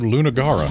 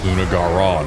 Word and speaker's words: Lunagaron: I don't like that it's lunagaron because it feels like it's got two emphasized syllables in a row. In fact, it feels like three of the four syllables are emphasized. Lu-na-ga-ron. Three emphasized syllables is too many for one name.